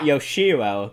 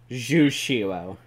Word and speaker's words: Jushiro: He plays not Yoshiro, but Jushiro.